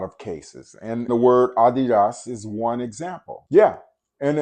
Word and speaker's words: Adidas: The correct pronunciation for that word is Adidas. And that's saying it with the pure vowel sound.